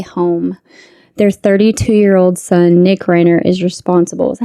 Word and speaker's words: Reiner: Their 32-year-old son, Nick Reiner, is responsible. Is that how you say it, Reiner?